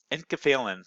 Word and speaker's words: enkephalin: Enkephalin. That's how you pronounce that.